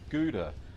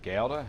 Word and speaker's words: Gouda: Well, today we're going to be making Gouda or GA. It depends on how you want to pronounce it.